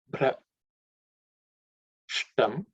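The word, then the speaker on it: भ्रष्टम्: Then bra, the word bra comes here, which is the bha is the fourth letter in the pa varga. So it has to be aspirated. Bra, okay. Bra. Shtam. Again, sh is coming. That sh is again cerebral sha.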